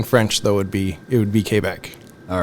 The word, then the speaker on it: Quebec: Of course, and in English it's Quebec, but the way we would pronounce it in French in Canada would be Quebec.